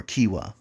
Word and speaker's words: quinoa: have wild rice or quinoa which is spelled quinoa but that's it when